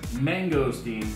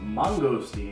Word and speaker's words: mangosteen: instance this manga scene which some people pronounce as mangosteens but I've been told by locals it's Mungo steel like it's not an